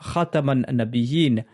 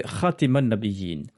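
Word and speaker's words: خاتم النبيين: Ali lui a dit « Enseigne-leur Khataman Nabiyyin à la place de Khatiman Nabiyyin », c'est-à-dire avec le fatha sur la lettre Ta au lieu de la kasra sous la lettre Ta.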